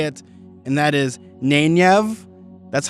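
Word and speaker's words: Nynaeve: you have to say it, and that is Nenyev.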